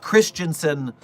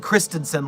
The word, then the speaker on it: Christensen: I am not Christensen like the religion. I am Christensen like the girl's name.